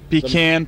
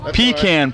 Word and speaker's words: pecan: We had a maple pecan pie. Pecan pie.